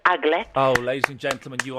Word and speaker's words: aglet: Yeah, they're called I think it's pronounced aglet. Oh, ladies and gentlemen, you are. Yes, Liz. It is the aglet.